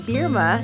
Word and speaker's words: Bierma: are now young adults uh please welcome berma is that did I say it correctly you